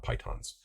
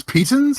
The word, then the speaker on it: pitons: We were mispronouncing pitons. It's not pythons. So What? Really? It's pitons?